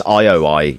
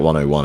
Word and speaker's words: IOI: I think it's IOI you pronounce it or something. The studio. It's not 101.